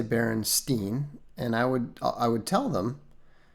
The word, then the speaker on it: Berenstain: to them as the Berenstein Bears. Now, that annoyed me at the time, even when I was pretty young, because I knew that the pronunciation should be Stein.